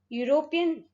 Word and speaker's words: European: use a European city because it is pronounced as European, which is the combination of EU.